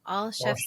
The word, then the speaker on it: Olszewski: The way I recommend folks pronounce it is to think of three words, all, ALL, chefs as in cooks, and then ski as in downhill skiing. So I love Olszewski.